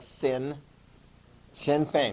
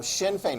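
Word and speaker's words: Sinn Féin: that weird uh pronunciation it looks like sin shin fein right so shin fein write this down shin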